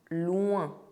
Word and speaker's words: loin: But, OIN is pronounced as in "loin" (far).